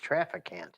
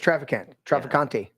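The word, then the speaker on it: Traficant: James Trafficant. Yeah, James Trafficante. He's Italian. Trafficante. There's no I on the end. Trust me, that's the way he pronounces. That's the way I followed his case for years.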